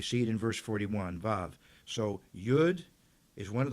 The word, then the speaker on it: Vav: But actually, it's, Wa, or it's pronounced nowadays Vav. And that's the 6th letter of the Hebrew alphabet. And you see it in verse 41, Vav.